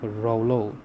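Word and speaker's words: rouleaux: Pronounce Rolex is rolo o into hematopois synthesis of blood cells.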